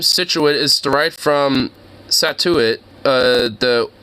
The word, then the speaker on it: Scituate: It just sounds like you're cutting yourself off from saying situation.